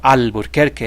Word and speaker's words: Alburquerque: those of Albuquerque, or Alburquerque as we pronounce it in Spanish, were living much like the basket makers living in pit houses.